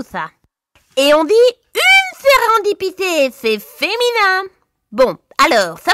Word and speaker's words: Sérendipité: Sérendipité. Pas fastoche, hein? Cela s'écrit avec un S, un E, un R,